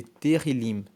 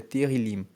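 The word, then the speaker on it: Tehilim: Salmos no texto original ele é chamado de terim na Bíblia Hebraica ele se chama o nome desse livro é terril terril se escreve t e h i l i m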